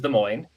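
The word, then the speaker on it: Des Moines: The capital of Iowa is De Moine and if you read it, it says Des, you know, so you'll hear that, too.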